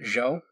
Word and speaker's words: Zhou: Chow, there we go. The Chow Dynasty. So ZH and Q are both pronounced CH in Chinese.